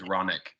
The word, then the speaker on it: Ronick: Ronick. Aye. And please correct me if I am pronouncing anyone's name incorrectly. My last name's Ronick.